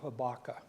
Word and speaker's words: Habakkuk: Jonah Mike um naham habaka habak is the way you're supposed to pronounce that but since I'm from Texas I'm just going to say habaka and and leave the last uh uh part off and so habaka is